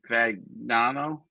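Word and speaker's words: Fagnano: Fagano.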